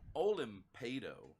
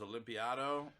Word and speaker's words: Olimpado: I think for the first year knowing you, it was Olympiado. And A lot then of people say that, dude. And then for Yeah. probably 3 years, I pronounced your name as Olimpatio.